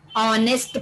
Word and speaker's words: honest: Yes, we know, of course, H represents here a consonant sound, but then also we are using article an, because here H is silent.